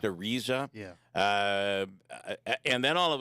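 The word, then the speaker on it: Araiza: Matt Ariza or Ariza, how is it pronounced? Ariza.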